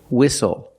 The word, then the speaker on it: whistle: seat belt very good we also see the silent T when you have the spelling pattern stle e like these words whistle castle and hustle the